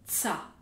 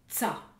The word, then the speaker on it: тся: Mais on prononce simplement « tsa » dans les deux cas.